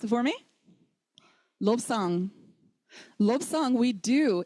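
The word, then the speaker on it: བློ་བཟང: That ba that was silent suddenly becomes sounded.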